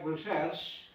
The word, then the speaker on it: recherche: The time research comes from a French word recherche, it pronounced like that, means to go about seeking or search for knowledge.